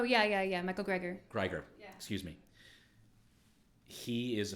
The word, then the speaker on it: Greger: buddy and forgive me if I'm pronouncing his name wrong Dr Michael guer how not die oh yeah yeah yeah Michael Greger Greger excuse me he is a physician who I